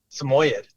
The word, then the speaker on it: Samoyed: docile he mentioned uh is it a sid or a samed how do you say it samoyed samoyed so it's a little bit of both all right Samoyed yeah